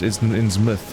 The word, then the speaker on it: Innsmouth: That is pronounced Innsmouth.